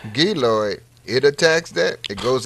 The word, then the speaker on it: Giloy: You know, but we know the silver water has attacked it, and now you're telling me this, how you pronounce this again? Giloy. Giloid.